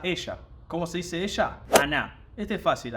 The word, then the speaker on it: она: Cómo se dice ella Ana este es fácil acuérdense de Ana pero agréguele Ana la tilde en la a final y Cómo se escribe